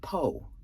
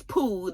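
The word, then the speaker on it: peau: And I was like, first of all, P-E-A-U should be pronounced Poe, as in low, L-E-A-U.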